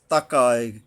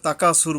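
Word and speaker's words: التكاثر: তাকা সুর, এই যে সা উচ্চারণে তাকাক, তাকায়, তাকা, এখানে তাকা সুর বললে গেলে হবে না, তাকা একটু একালিপ টান আছে।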